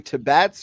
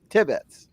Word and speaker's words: Tibbetts: pronounce his last name is it to bats or tibbetts or both tibbetts tibbetts okay as i said tib it's tibbetts well you know what from